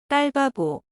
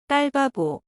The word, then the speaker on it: 딸바보: 딸, It's like a tense, voiceless D sound. 바보. Ba like in father, and bo like in more. Now let's practice again. 딸바보. 딸바보. 딸바보.